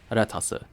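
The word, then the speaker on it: レタス: make it sound like the Japanese pronunciation of the word lettuce, retasu.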